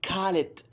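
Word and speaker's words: خالد: So for example, Khalid, they say Khalid.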